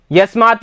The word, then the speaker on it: यस्मै: तृतीया, ये यस्मै याभ्याम येभ्यः चतुर्थी, ठीक है, यस्मात् याभ्याम येभ्यः पंचमी, यस्य ययोः येषाम षष्ठी, यस्मिन् ययो येषु सप्तमी, ठीक है।